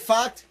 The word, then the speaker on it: Focht: Is that how you say it, Focht? Yes, that is proper pronunciation.